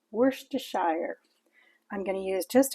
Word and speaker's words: Worcestershire: Yes, it's pronounced Worcestershire.